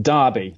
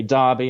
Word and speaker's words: Derby: And latterly, I was a marketing manager for an IT company in Derby. The Brits say Derby, and the Americans say Derby.